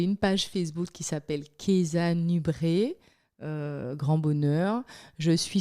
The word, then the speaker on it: Keyza: Keza Nubré. Alors, ça s'écrit avec un K-E-Y-Z-A Ouais.